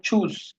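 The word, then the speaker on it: Tschüss: নেই এবং অর্থগুলো দেখি চুজ এটার উচ্চারণ হলো চুজ টি এস টি এইচ এটা অলওয়েজ এর মত উচ্চারণ হয় জার্মান ভাষায় আরেকটা ওয়ার্ড আছে এরকম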